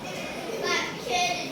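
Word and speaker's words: บัตรเครดิต: คน ยก มือ เต็ม บัตร เครดิต ไม่ ออก เสียง รอ เรือ เก่ง มาก โอ้โห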